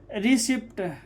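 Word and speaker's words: receipt: जैसे रिसिप्ट, RECIPT, ठीक है, यहाँ PT एक साथ में है, तो P क्या हो जाएगा, साइलेंट।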